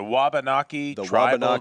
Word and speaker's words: Wabanaki: from here the the Wallock how do you pronounce it Jeff the it's a wabanaki tribal Nation thank you I struggled with that